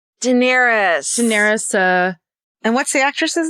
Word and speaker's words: Daenerys: It's Daenerys.